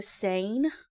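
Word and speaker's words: seine: It's called a sane. Okay. Which is actually spelled s e i ne. Uh-huh. But you say it like the word I'm sane or I'm insane.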